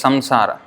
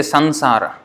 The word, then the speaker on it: samsara: But then here it is pronounced as like samsara. In Sanskrit we would pronounce it as samsara. In Hindi they say sansara. So in Bengali they say sanshar.